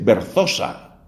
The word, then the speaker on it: Berzosa: Escriba este nombre, Verónica Berzosa, con B grande, con Z y S, Berzosa, dicen los españoles, porque además ella es española.